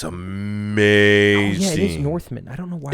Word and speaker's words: The Northman: Northman, not Norseman, because I'm going to say it wrong.